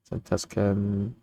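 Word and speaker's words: Zantetsuken: Zantetsken. That's how you pronounce it, right? Ignore the U.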